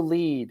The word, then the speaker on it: lede: The lead is It's LED. LEDE is how you spell lead. LEAD. Yes, we spell it that way. We don't. Oh. Yeah, the newspaper people wanted to be funny and sometimes spell it LEDE.